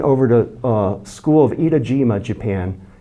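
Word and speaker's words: Etajima: to a school of idajima Japan itajima not Iwo but Eda ETA idajima is in Hiroshima Bay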